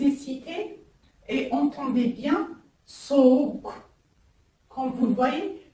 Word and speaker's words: soğuk: C'est-à-dire, il ne se prononce ni G, ni G. Comme exemple, je vous ai cité, et entendez bien, soğuk. Comme vous le voyez, soğuk, qui veut dire le froid. Répétez après moi, soğuk.